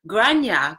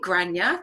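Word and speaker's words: Gráinne: said it right haha it's Irish name and it said granya debate granya thank you for explaining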